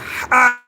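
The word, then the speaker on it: ح: তা আর এ হছে হা ফা তা হা উচ্চারণটা গলার ভিতর থেকে আসবে হার উচ্চারণ গলার ভিতর দেখা যাবে ফা তা যাদের দের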